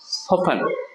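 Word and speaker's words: soften: বালেই কয়টা কি হবে এখানে টির উচ্চারণটা হবে না এটা হবে সোফেন সোফেন সো ফ্যান সোফেন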